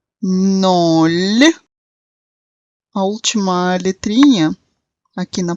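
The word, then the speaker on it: ноль: Para entender isso melhor, eu vou parar novamente dentro das explicações de pronúncia dos numerais. Os primeiros numerais são nol, nol.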